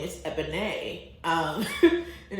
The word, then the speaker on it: Ebon: your name and I say my name is eban um and it's spelled e b o n accent now if